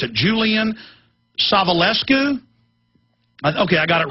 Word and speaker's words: Julian Savulescu: I still can't remember how to pronounce it. Julian Savulescu?